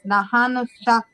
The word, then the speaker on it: Nahonnushagk: So the spelling of it looks a little crazy, but the way you say it, it's Nahanushak.